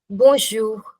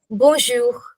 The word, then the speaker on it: Bonjour: Bonjour. Bonjour. Yeah. You don't have to say bun. You don't have to uh pronounce it separately. It'll just be together. Bonjour.